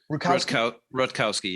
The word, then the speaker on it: Rutkowski: Am I pronouncing his name right? Ken Rutkowski? Rutkowski, yeah.